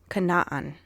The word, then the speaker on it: Canaan: It's pronounced Canaan. There's two A's for a reason. It's not just to, throw another A in there.